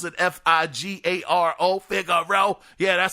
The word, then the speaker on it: Figaro: ] row the figaro think that's how you pronounce it f-i-g-a-r-o figure row yeah that sounds fancy uh xbox game studio